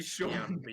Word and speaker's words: Sean Bean: Because you can read things, and they'll read the same way, but you can't pronounce them. Sheen Bean or Sean Bourne? Sean Paul. Actually, Sean Bean.